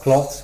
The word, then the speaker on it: cloths: meaning isn't that apples cloth a lot of cloths with no II just CLO ths is the